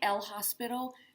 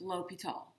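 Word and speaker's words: L'Hôpital: made up um and it looks like l hospital but it's pronounced l'hopital so we're going to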